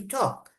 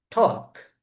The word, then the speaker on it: talk: We were as children, we used to say talk. The teacher corrects us. It's not talk, but it is talk. The l is silent.